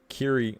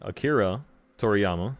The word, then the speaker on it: Akira Toriyama: that man Akira uh Akiri Akira Toriyama I always say his name wrong Kira Toriyama but I think I told